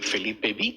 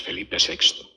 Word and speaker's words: Felipe VI: Y claro, los que no lo saben a lo mejor lo ven y dicen Felipe B, pero no es Felipe VI.